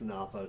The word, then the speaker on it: Nappa: I not making sure did I not say it NAA no it's Nappa Nappa Nappa oh yeah like you Nappa you get slappa that's why I always